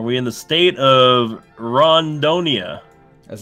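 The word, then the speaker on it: Rondônia: You have to say it with a long O though. Rondonia. Yeah, for the emphasis on the long O.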